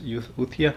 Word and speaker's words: Euthia: this is called utia i don't even know how to pronounce this utia you see e-u-e-u-t-h-i-a with a u-thea i just call it